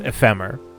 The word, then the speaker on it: Ephemer: It's not ephemer unless you put an accent over the e because in English the accent is on the penultimate syllable. So, it's ephemer.